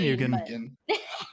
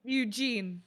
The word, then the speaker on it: Eugene: It's been a long time, Eugen. Just kidding. Eugene. Yeah, y'all made this joke when I first told y'all it. Yeah. True. Yeah. So Eugene, if it was spelled incorrectly, and you spelled like Eugen.